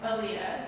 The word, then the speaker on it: Alea: Alea.